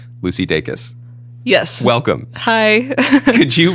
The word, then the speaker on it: Dacus: saying it correctly, Lucy Dacus. Yes. Welcome. Hi. Could you recreate for me the pronunciation advice that you just gave? I tell people it's like daytime and kiss kiss, like day kiss.